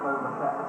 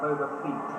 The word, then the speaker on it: Boba Fett: And I thought, well, obviously this character, Boba Fett, and I couldn't pronounce his name, it was like Boba Feet, I kept calling him.